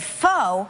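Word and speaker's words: pho: it on the show i said foe and everybody was like what apparently it's right but it is it's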